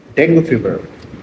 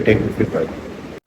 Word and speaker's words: dengue: যদিও শুদ্ধ উচ্চারণ হলো ডেঙ্গি ফিভার, কিন্তু আমাদের সমাজে প্রচলিত রীতি অনুযায়ী যেহেতু এটা ডেঙ্গু ফিভার নামে প্রচলিত এবং পরিচিত, সুতরাং আমি এই ভিডিওতে ডেঙ্গু ফিভার শব্দটি ব্যবহার করব।